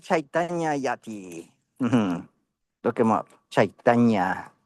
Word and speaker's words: Chaitanya: Chaitana. C H A I T A N Y A. Guru Nitan. And that's spelled N I T Y A.